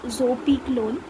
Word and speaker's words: zopiclone: Sorry, zopiclone. I pronounced it wrong earlier. It is zopiclone.